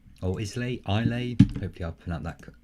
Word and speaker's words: Islay: plane in 1994 it was the island of Islay oh is lay I'll a Hopi a plan that pronounced accurately I'll a question number three Japan's